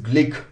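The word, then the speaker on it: Glück: यस, नाउ यहां पर बहुत जगहों पर मैंने देखा लोग ग्लुक ग्लुक कर रहे, प्रोनाउंसिएशन इज ग्लिक।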